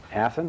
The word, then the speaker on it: Athon: david steves he's a reporter and also hathan i pronounced it right this time she's also a